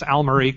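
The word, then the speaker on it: Almaro: you butchered my name it's Al Maro but I'm used to it because Sydney literally cannot say my name every time he introduces me at one of his events it's like here's Kendall and then he says some word that sounds like Amma Margarita or something so it's okay I'll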